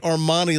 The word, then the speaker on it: Armoni: Her name is Armani, but rather, her name is not spelled like Armani, like the fashion house. How's it spelled? It's Armoni. Of course. Armani. Like, hey, man.